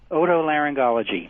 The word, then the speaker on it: otolaryngology: How do you pronounce that very long word? Otolaryngology.